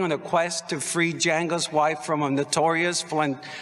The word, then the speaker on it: Django: love django the junk django the d is silent damn it django unchained